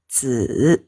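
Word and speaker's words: 子: Ini bacanya zi ya. Zi, ada yang bacanya nada ketiga ya.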